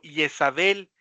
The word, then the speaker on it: Jezabel: Quizás este nombre de Jezabel está muy arraigado a la pronunciación griega de su nombre, ¿no? Tipo Yesabel es el el nombre que vamos a encontrarlo en en en el griego original.